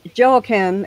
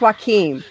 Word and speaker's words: Joaquin: I said, yeah, I talked to Joachim and he said blah, blah, blah. She's like, who? I said, Joachim. And she's like, spell that. So I spelled it. And she goes, and she starts cracking up. She goes, that's Joaquin.